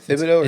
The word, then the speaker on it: Thibodeau: Is it Thibodeau?